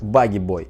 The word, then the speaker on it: Bogey Boi: Его никнейм это не Пугало и не Домовой. Он связал его с персонажем из фильма, потому что у них были очень похожие черты лица. И правильное произношение будет именно как Bogey Boi.